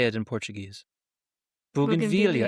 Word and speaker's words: bougainvillea: Bougainvillea. And I think that's the way we're supposed to pronounce it, but everyone says bougainvillea because they think it's French, but it's not at all.